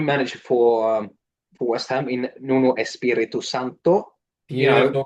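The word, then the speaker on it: Nuno Espírito Santo: for West Ham in Nuno Espirito Santo. Beautiful pronunciation, sir. Really important with the pronunciation there, because people tend to say like Nuno Espirito Santos, like Marco Bizot, but not really.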